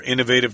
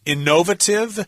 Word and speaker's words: innovative: I've also heard this word pronounced as innovative. That's probably the British pronunciation. It's only British. Only British, yes. Americans don't say it that way. We say innovative with the accent on the first syllable.